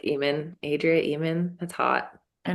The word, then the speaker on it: Ehman: It's spelled EHMAN. Mm. Mm, it's And wonderful. it feels with the H, it's almost just like human. It's not about the heman or the sheman. It's just like Eamon.